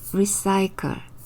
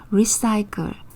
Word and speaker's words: recycle: 번째시는 쌍시옷 소리가 나구요 뒤에 씨는 키읔 소리가납니다 r은 리을이는이 소리 y는 여기서는 아이로 발음 되고요 l은 리을 소리 단어 마지막에 2는 거의 소리가 없습니다 천천히 함께 읽어 볼게요 우리 싸이클 리사이클 재활용하다라는 우리말 정말 많이